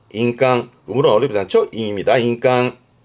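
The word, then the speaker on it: 印鑑: 발음은 인깡, 인깡.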